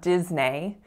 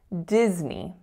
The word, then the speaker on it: Disney: tricky as well so it kind of looks like it should be pronounced nay but we don't say a we say E so it's not Disney it's Disney Disney so that's it